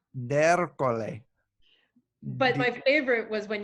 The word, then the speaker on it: D'Ercole: So it's Darcol in like the real world, but you've gotten me under the French pronunciation on that before, Italian. or the Sicilian pronunciation of something, right? Ercole. D'Ercole.